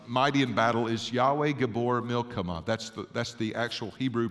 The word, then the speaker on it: Gibbor Milchamah: So the way that you pronounce this in Hebrew is mighty in battle is Yahweh Gibbor Milchamah. That's the actual Hebrew pronunciation of this word.